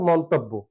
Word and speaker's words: মন্তব্য: মন তব বো আর আমরা জানি যুক্তবর্ণে যেহেতু জ ফলাদ আছে যুক্ত আছে এজন্য শেষ যে বর্ণটা হবে সেটা ওকার হয়ে যাবে মন্তব্য সঠিক উচ্চারণ হচ্ছে মন্তব্য এখন চলে আসছি বৈশাখ